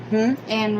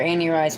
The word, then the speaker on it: Anne Rice: rice yeah but and we called her andy rice but it's ann i know she hates annie rice um that throws me off because her name is spelled a-n-n-e yeah but it's anne rice but it wasn't the